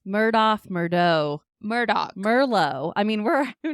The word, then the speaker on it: Murdaugh: I say Murdaugh, but I don't think people usually emphasize the end of it the way that I do. It's just also that southern name that wherever you live all over the country, people pronounce things differently. He says Alec Murdaugh, so I'm going with Murdaugh.